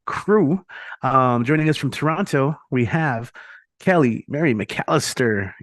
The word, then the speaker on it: Toronto: people say Toronto because they always pronounce that second te and sometimes when I have my work voice on I'll say here in the city of Toronto but it always feels so foreign to me we always Dro that it's just ton it's it's a weird way to pronounce it I don't know why